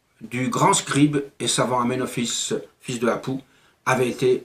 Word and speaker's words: Aménophis: if amène retape mais il se prononce aménophis il reconstitue ce temple